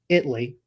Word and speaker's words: Italy: Canada Italy actually it's Italy they do not pronounce the a um learn that the